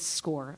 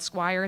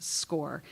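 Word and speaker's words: SCOIR: program and call it Squire that is totally fine um and those are seniors um it looks like Squire it is pronounced score um score is our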